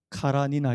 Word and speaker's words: 안나 카레니나: 이제 팔힘 잘 안되는데요 안나 카레니나 예 카라 니나 이렇게 하고 발음 하기도 하구요 그 모두 작품으로 그가